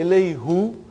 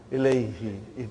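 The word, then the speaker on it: إليه: So, who became now pronounced ilayhi.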